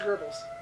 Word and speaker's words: Goebbels: It looks like Goebbels, Ger- but it's pronounced Goebbels.